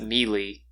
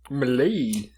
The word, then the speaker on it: melee: I'm proud that you didn't pronounce it mealy, because I hate people that say mealy. Who says I think mealy? that's way wrong. Hey, if you say A mealy, lot of people fuck do. Is that not it? I thought it was melee. Melee. We're going to have to postpone the Ettin part of the episode so that we can thoroughly make fun of Blake for pronouncing melee. It's melee.